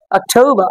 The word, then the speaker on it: October: ওকে, অক্টোবর, অক্টোবর, October. Okay. শেষে আমরা আর দেখে নিলাম, আর এর উচ্চারণ অনুযায়ী শেষে আর থাকলে আর এর উচ্চারণ হবে না।